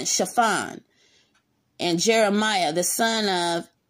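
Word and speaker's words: Shaphan: asa the son of chiffon and that's spelled s-h-a-p-h-a-n chiffon and jeremiah the son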